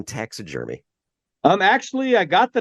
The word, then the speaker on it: TaxaJermy: Now, that is spelled TaxaJermy. It's not taxidermy, and it's not tax attorney.